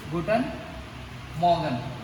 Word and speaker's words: Guten Morgen: Give attention to the pronunciation, students. It is Guten Morgen.